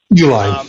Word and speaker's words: Uline: Is that how you pronounce it? Uline, yeah.